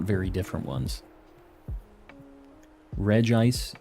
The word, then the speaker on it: Regice: not very different ones Regice is the pronunciation A lot of people say Reggie ice and that's how it's spelled in Japanese too so like I'm not